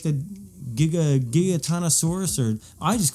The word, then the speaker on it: Giganotosaurus: It's 12 minutes, so it's right there at my attention span, and it gives it tells you like the Giganotosaurus, or I just call it the Gigantosaurus because it's the big.